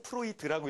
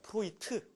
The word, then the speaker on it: 프로이트: 자, 그럼 이제 어 프로이트에 대한 강의인데 아 어떤 분은이 D자가 들어가서 프로이드라고 읽잖아요. 그죠? 그런데 이제 이게 독일로입니다. 그러니까 여러분들 이제 그래서 상담 이제 공부하시니까 프로이트 이렇게 이제 하셔야 돼요. 이게 독일로거든요. 이게 오이 발음이 나고 이제 이게 제일 마지막에 뛰는 티발음이더 프로이트 여러분 그 프로젝트